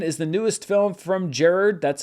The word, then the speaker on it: Gerard: Also hitting theaters this weekend is the newest film from Gerard, that's how I say it because that's how it's pronounced, Butler, Kandahar, about Butler and his translator fighting for survival.